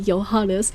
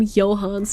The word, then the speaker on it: Johannes: His name is supposed to be Johannes, but they keep calling him Johans, and it pisses me off.